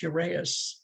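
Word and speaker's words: uraeus: had a cobra symbol i think it's pronounced urease on their headdress and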